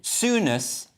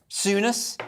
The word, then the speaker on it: Souness: on with tuesday's telegraph this is apparently i mispronounced his name earlier graham souness souness yes right now this is some kind of